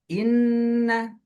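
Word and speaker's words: إِنَّ: Inna, cara bacanya ditahan 2 harokat, kemudian dimasukkan ke rongga hidung, dan kemudian didengungkan.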